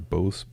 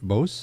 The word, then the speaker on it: Bose: There's no swoosh over the E on Bose. The English language has a lot to apologize for. Yes. Okay, so tell us, Steve, what's going on with these Bose headphones?